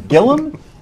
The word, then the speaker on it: Gillum: Gillum is here I'm told it's Gillum and not gilam well if you spell it Gillum nobody's going to be able to find me on Google so I always say gilam oh that's smart okay